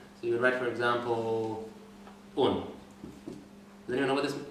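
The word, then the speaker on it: און: So you wouldn't write this, because by definition, a vav is either U or O. So in this case, it is U. And it is understood, when people speak the language, and this is pronounced Un.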